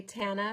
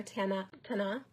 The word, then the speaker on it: Tana: You can shorten it and just say Tana or Tana, depending on how you're pronouncing it.